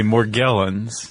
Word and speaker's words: Morgellons: Um what we're talking about is I say Morgellons. Chuck and Martin Bashir say Morgellens. Yeah. I saw on some pronunciation site Morjellens, but uh we're both going to make a hard G sound.